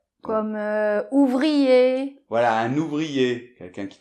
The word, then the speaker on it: ouvrier: Donc voilà, donc papier, ouvrier. Crier, exactement. Pas de R, on le prononce pas là.